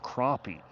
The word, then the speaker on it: crappie: Bouncer says it's pronounced crappy. See, that's what I've always said. I hear so many people though in the south and the east that say crappie and I've I don't